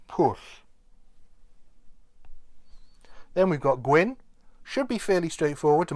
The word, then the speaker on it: gwyn: push then we've got gwyn should be fairly straightforward to most english speakers as it's pronounced um the same way as you might pronounce the name gwyn as in fred gwynne or gwyneth paltrow so that's just gwyn